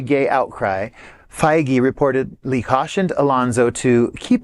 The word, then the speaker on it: Feige: Feige, okay.